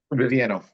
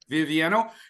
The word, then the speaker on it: Vivieno: As far as I know, that is it Viviano? How do you say your name? Vivieno. Vivieno.